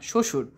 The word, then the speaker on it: শ্বশুর: বর্ণের উচ্চারণের স্বাতন্ত্র রয়েছে শব্দের আদিতে ব ফলার উচ্চারণ হয় না কোথায় ব ফলার উচ্চারণ হয় না শব্দের আদিতে যেমন ত্বক এটাকে আমরা তবক বলেছি বলিনি ত্বক বলেছি তারপর সবসুর বলেছি না শ্বশুর সাবাধীন বলেছি না স্বাধীন কারণ বফলার উচ্চারণ শব্দের আদিতে হয় না শব্দের মধ্যে বা শেষে